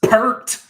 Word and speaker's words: Peart: Okay, so this you is hate the pronunciation of yes, his name? it's Pert.